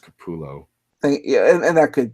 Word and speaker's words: Capullo: but someone like Greg Capullo or Todd McFarlane they can live off of Commission's because they they can charge upwards into the hundreds I think is actually pronounced Kapoor Lowe thank ya and that